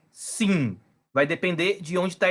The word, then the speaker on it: Sin: O pontinho aqui em cima, Shin. O pontinho do outro lado, Sim. Então, essa aqui é uma letra que tem duas pronúncias, né? Uma é SH, Shin, e a outra é Sim, sem o H.